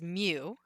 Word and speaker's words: mu: It looks kind of like a mix between an M and a U, and so that's literally like how we spell it is mu.